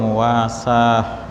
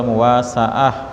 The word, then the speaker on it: muwasaah: Babul itsari wal muwasah, ya. Bab tentang, atau bacanya babul itsari wal muwasaah, ya.